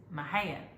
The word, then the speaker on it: Mexia: I mean, it's a Texas joke because the town Mexia is Mexia. It's Mexia. That's how you say it.